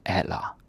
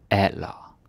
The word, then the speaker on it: alder: And yes, the D is silent. And the R, you don't pronounce it. Don't say like alra or alra. No. We don't say it at the end.